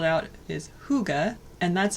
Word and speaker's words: Hygge: ourselves a cup of tea and talk about Hygge and Mys.